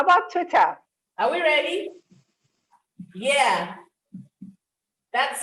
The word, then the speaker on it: Twitter: fit of anger so the sound here is twit twitter but when you are tweeting you know it's from the the word is from the bird when you're tweeting it's tweets it's a long e but when you articulate the name of the app social the social networking app it is twitter twitter so did we get